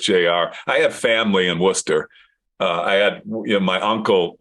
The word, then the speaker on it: Worcester: Johnny that is in Worcester Massachusetts not Worchester Worcester Massachusetts I know how to pronunciate